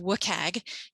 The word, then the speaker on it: WCAG: are feeling the expectation is uh it's it's pronounced wookag wcag 2.1 um double a but there are